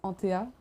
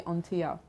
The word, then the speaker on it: Anthéa: In French, it's Anthéa, but in English, it's mostly Anthéa.